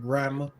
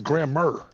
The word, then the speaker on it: grammar: Like you said, grandma. Yeah, that's even worse. It's grammar. Grammar. Grandma is your grandmother.